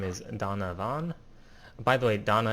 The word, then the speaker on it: Dana: By the way, Donna is spelled D-A-N-A. That's not really relevant, but it's not D-O-N-N-A. And in real life, we would pronounce it as Dana, but this is not real life.